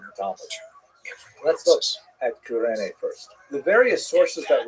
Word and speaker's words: Cyrene: I've looked it up and I've heard it pronounced as Cyrene in English. In Greek, it would have been something like Kurene. So I'm probably going to say Kurene, and I'll probably be